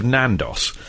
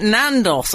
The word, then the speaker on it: Nando's: It said, regarding the origins of Nandos. Can we just say it is actually called Nando's? For some reason, we call it Nandos on this show because Frank mispronounces it as Nandos, got which is possessive one of the many apostrophe.